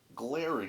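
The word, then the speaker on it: Glarry: I'm not sure they make this anymore, but the Glary company, okay, made this 4-string jazz bass, as you can see.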